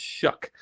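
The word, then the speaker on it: Shough: N led by Tyler Shuck, by the way. It's spelled really funny, but it's pronounced Shuck.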